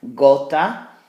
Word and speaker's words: gota: for Gypsy against soft gota Kota hard that's the word for